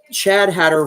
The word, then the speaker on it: Chad Hatter: so I thought huh chadh Hatter rhymes with madh Hatter I'll just do that